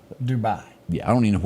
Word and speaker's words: Dubai: New York student was in dub did I pronounce that country Dubai Dubai yeah I don't even know where it is